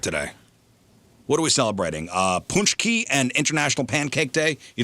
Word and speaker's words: pączki: Ponchki and International Pancake Day. You know what a Ponchki is? No. It's a jelly-filled Polish doughnut. How do you spell that? Pączki.